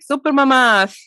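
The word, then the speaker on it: Super Mamás: nearing 300 episodes and super mamas is spelled in spanish and it's pronounced spanish like super mamas that's how they say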